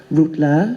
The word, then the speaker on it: Rolla: great-great grandfather is Russian my surname is Rolla it's spelled ro double la it's spelled phonetically root low it means role play